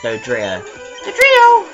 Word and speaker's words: Dodrio: Dodrio. Don't pronounce a T. Dodrio.